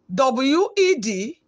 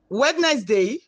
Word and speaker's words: Wednesday: do you usually pronounce w-e-d-n-e-s-d-a-y wednesday no it is wednesday wednesday let us d and e are pronounced as where d and e are silent we move to sound